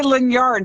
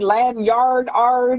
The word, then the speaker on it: lanyard: Leard, but I always say lard, but it's not a yard.